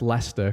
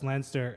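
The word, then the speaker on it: Leinster: I said lster clont I thought you mispronounced Lester cuz in my list it's Lester then and the Sharks no no it's lster and then Claremont okay I'll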